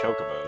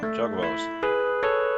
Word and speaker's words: Chocobos: I tell you, the Mog Mog Moogle team will make it, and they'll probably play the Mac Chocobos in the finals. Your pronunciations are wrong. Chocobos. Not Chocobos.